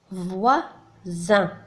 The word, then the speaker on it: voisin: ثم voisin. voisin الجار. هنا le S كما تلاحظون كذلك محصور بين deux voyelles le I et le I.